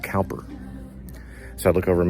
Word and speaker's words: Cowper: It's spelled exactly the same, only it was pronounced Cowper.